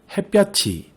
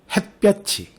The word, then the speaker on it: 햇볕이: 많고 습도, 햇볕이 또는 햇볕이, 강릉, 대관령 이라고 읽어야 옳은 발음입니다. 단어마다 왜 그렇게 발음되는지도 알아보도록 하죠. 먼저 많고는 히읗과 기역이 축약되는 거센소리 대기가 일어나고요. 햇볕이는 2가지의 발음이 가능하죠.